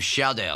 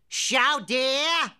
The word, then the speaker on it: chowder: It's a bowl of chowder, sir. Wait a minute, come here. What did you call it? Say it loud enough so everyone can hear. Come on, say it. Chowder. Chowdah!